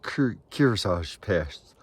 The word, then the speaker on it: Kearsarge: It's pronounced Kearsarge Pass. Excuse me. Kearsarge Pass, I believe.